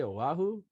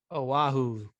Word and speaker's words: Oahu: Oh, that's how you say Oahu? Oahu.